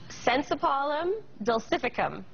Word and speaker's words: Synsepalum dulcificum: Well, interestingly enough, there is this miracle fruit, and how do you pronounce it again? Sensipalum dulcificum.